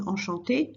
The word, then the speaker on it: enchanté: Okay, they're British, they do have a bit of an accent, but basically it's enchanté. Pronunciation exactly the same.